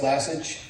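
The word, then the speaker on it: Lassige: Okay, and next speaker is Lesage. I pronounced that. Good evening. My name is Lassage, L-A-S-S-I-G-E.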